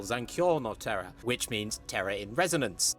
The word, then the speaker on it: Zankyo no Terror: By the way, I should mention, throughout this section I pronounce it as Zankyu no Terror instead of its actual title Zankyo no Terror, which means terror in resonance.